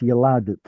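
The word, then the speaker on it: יָלַדְתְּ: So it's yaladet. That should be a silent schwa, but DT is hard to pronounce, so it necessarily requires some kind of a vowel, like a schwa sound.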